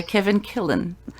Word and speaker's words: Kevin Killen: By Kevin Killen. Did I pronounce that right?